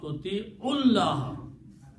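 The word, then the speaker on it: تُطِيعُوا اللَّهَ: Now you can combine Toti'u and Allah and pronounce Toti'ullah. You don't need to pronounce wow there.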